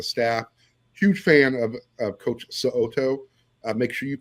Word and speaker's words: So'oto: Huge fan of Coach So'oto. Make sure you pronounce that last name correctly, because he will correct you if you don't. So'oto, yes.